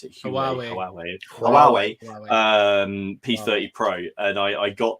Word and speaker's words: Huawei: How do you pronounce it? Huawei.